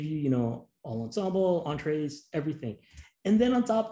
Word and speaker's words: Entrez: I was just going to say, entrez is actually pronounced entre. And it's a French word.